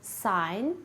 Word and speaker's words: sign: Similarly, the G in sign is silent, but it is not in signal.